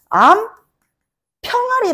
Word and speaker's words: 암평아리: 아무도 없잖아 그죠 자 암 병아리라고 발음하는 사람 있어요 없어요 우리가 발음할 때 어떻게해 암 평아리 아고 해 암평아리 그죠 수닥 수닥 어이